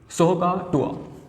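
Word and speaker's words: SOH CAH TOA: इसका प्रोनाउंसिएशन क्या होगा, सो का टुआ, राइट।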